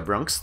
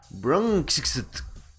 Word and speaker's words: Bronxt: Por cierto, no se pronuncia Bronxt, es Bronxt.